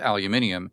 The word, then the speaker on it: aluminium: You can't process aluminium using a blast furnace.